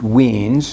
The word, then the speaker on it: Wien: One is Wien's law, and it's pronounced Wien's. This is a German guy.